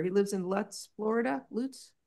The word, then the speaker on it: Lutz: Loots. How do you say it? Loots.